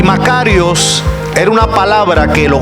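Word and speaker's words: μακάριος: Bienaventurados tiene su origen una palabra griega que se llama o se pronuncia macarios macarios macarios cuando se traduce al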